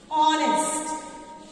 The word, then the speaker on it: honest: If I write the word dash honest, dash honest, and I ask you to write A or an before that. Again we can see honest. How do you pronounce this word? H is silent.